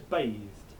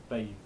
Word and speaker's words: bathed: looks like it says bathed, right? Bathed, which in modern English is one syllable. Bathed. Bathed. um bathed one syllable but for chauer it's two right you write an e you say an e bathed bathed we'll come